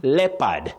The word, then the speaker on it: leopard: The O in that name is silent. Leonard, not Leonard. Leopard, not leopard.